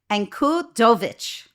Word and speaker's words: Ankudovich: interesting guest today and I'm going to try the Slavic way to say his name so he'll let me know Alex Encudovich.